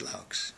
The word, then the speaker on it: Loucks: my name is laughs very strange name because everybody doesn't know what i'm saying when i say laughs okay so i have to spell it l-o-u-c-k-s i think it's dutch